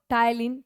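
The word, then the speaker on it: ptyalin: T silent here टायलीन।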